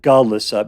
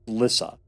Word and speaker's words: Glissa: Glissa I always want to pronounce it Glissa, but it's just Glissa.